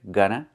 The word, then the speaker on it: gonna: Going to, make the reduction, gonna.